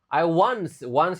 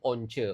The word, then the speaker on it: once: Once cara bacanya bukan once, once.